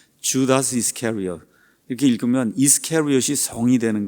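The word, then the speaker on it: Judas Iscariot: 참 이게 발음하기가 어렵죠 영어로는 반대로 읽습니다 주다스 이스캐리엇 이렇게 읽어요 주다스 이스캐리엇 이렇게 읽으면 이스캐리엇이 성이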